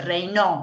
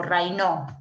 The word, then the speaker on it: Raynaud: Bien, La correcta es la E, y esto es lo que se denomina fenómeno de Raynaud, o Raynaud, se escribe Raynaud en francés, y que obedece a la vasoconstricción.